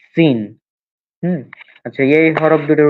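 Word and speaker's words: سين: হ্যাঁ, তিন দাঁতের উপর তিন নোক্তা হলে শিন, আর নোক্তা না হলে সিন।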